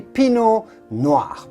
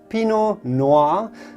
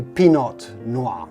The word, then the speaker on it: Pinot Noir: to say just simply Pinot Noir as long as you do not pronounce the T at the end of Pinot so do not say Pinot Noir for sure then yes